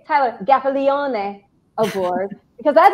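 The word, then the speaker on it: Gaffalione: gaffione or as i like to say tyler gaffiliane aboard because that's how his name is really pronounced everybody it is i asked him um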